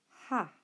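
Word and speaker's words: ἁ: So alpha with a little C above it should be pronounced ha.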